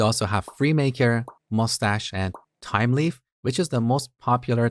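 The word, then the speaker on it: Thymeleaf: By the way, it's time leaf. It's not th leaf. I've seen some people call it thy leaf. That's not the right pronunciation.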